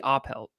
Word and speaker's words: Oppelt: in the background is I actually thought it was pronounced Opelt for the longest time, but I found out in the last few years it's actually Oppelt. It's German. Oppelt.